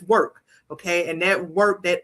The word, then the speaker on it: WORxK: People get confused because they see the WORxK and don't know how to pronounce it, but it's work.